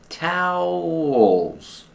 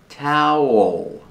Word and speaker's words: towel: like cow and how towels holes the second syllable has a dark l or with a tongue near the back of the mouth all like call and wall towel towel one towel two